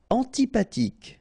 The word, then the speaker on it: antipathique: Antipathique. So remember, this H doesn't exist phonetically, so antipathique.